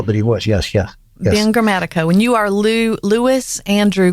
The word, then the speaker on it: Grammatico: Am I saying it right when I say Grammatico? You're saying it perfectly, but Southern girl here.